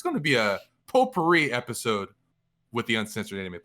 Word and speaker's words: potpourri: Wait, isn't it poopery? No, it's potpourri. I think it's pronounced potpourri.